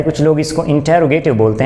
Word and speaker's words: interrogative: इसकी actual pronunciation की जाती है इंटरोगेटिव sentence, not इंटेरोगेटिव sentence. Actual pronunciation है इंटरोगेटिव sentence, इंटरोगेटिव। The word is इंटरोगेटिव।